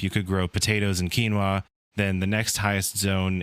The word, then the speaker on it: quinoa: Harvest what's available and plant what's left it's pronounced quinoa thank you very much if you could use